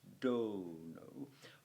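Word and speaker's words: dōnō: learn it, you kind of learn that it's pronounced dono.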